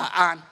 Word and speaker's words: Yên: Đấy là nghĩa của cái tự dạng mà đọc theo Tần Hán vận, tức là vào thời Hán và thời Tần ấy, thì đọc là Yên. Còn nếu đọc bằng âm Đường Tống vận, tức là thời Đường và thời Tống ấy, thì đó là An.